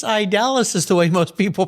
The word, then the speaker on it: Idaliz: back to my high school spanish and saying and i was saying well actually it's idalus is the way most people pronounce it either way it's a beautiful name